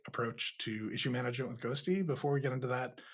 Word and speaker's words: Ghostty: you've been building a new terminal in Zig ghosty yeah is that how you say it yeah